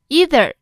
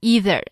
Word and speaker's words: either: Either 可以读成 either，也可以读成 either，两种读法都是可以的。